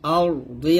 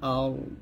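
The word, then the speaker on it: الأرض: এখানে ওয়া মা ফিল আরদি আছে, যদি আমরা এখানে থামি ওয়া মা ফিল আরদ, দেখুন এখানে লেখা আছে আরদ আরদ এরকম।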